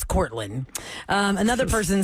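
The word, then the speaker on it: Kortlyn: almost daily medical cream is it Courtney or is it Caitlyn no it's courin um another person says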